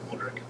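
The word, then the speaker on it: Modrić: Fed so so then Modric I believe that's how you pronounce his name modri Modric uh had the penalty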